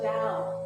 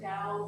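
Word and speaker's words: Tao: They believe way is the way or the da. That's what da means. It's spelled t a o pronounced with a d.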